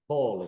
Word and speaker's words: Hawley: Did I pronounce that properly? Close enough. Hawley.